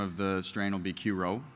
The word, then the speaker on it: Q-Ro: So the commercial name of the strain will be Q-Ro. That's pronounced Ro, not R-H-O.